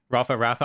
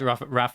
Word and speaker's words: Rapha: you're not adding an invisible ER at the end, I think you're okay. Oh So man, I don't know. Well, if you guys aren't familiar, I've had Rapha.